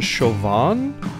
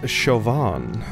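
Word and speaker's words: Siobhan: was Deku Lily, that your name is actually pronounced Chauvin. I looked up a few pronunciation guides for it, and yes, it is Irish in origin, and it's Chauvin.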